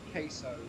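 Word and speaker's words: CaseOh: his name is is his name is queso like case and then o like you're understanding something so yeah be be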